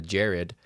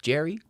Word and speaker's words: Jared: name in an order, I say Jared, and I hard D on the Jared, but then I have to spell it out too, because if I don't, they're just like Jerry, and I'm like, excuse me.